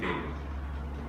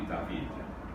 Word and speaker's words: David: So this is a painting by a guy named David. He didn't pronounce his name that way. They called him Jacques-Louis David.